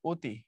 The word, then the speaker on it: অতি: একে বলা হয় সংবৃত মানে তুমি লেখবা হচ্ছে অতি পড়ার সময় পড়বা অতি লেখবা হচ্ছে নদী পড়ার